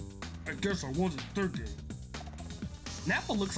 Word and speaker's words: Nappa: have any hair but I always called him nappy as a kid cuz I didn't know how to pronounce his name cuz I was so young I called him nappy that's quite enough Nappa all right we need